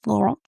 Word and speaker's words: Laurent: They say in France, Laurent.